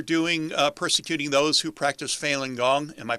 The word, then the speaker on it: Falun Gong: And excuse me, is this similar to what they're doing, persecuting those who practice Falun Gong? Am I pronouncing that correctly?